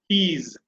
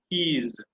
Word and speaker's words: he's: Right, next is he is என்பது பார்த்தீங்கன்னா he's. Okay, he's. S வந்து will take the Z sound when you're communicating.